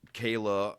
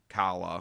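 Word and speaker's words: Calla: And you know, Ren dies at the end and Kayla uh after that returns to Toronto. Kala, whatever.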